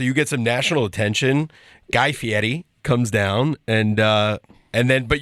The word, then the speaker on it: Guy Fieri: Guy Fieri. They were very specific with us when we filmed on how to pronounce his name.